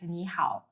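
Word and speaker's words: 你好: from simple words like niow niow is pretty straightforward to pronounce it sounds like n how just make sure to keep the knee part high and then go down and pitch on the how give it a try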